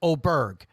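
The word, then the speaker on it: Åberg: says it but but ludvig told everybody because the pronunciations were just brutal he just said just call me o Berg but but Daniel told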